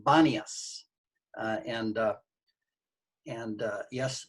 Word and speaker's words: Banias: original city of pon arabic speakers can't pronounce p so they pronounce b so it became banias and uh and uh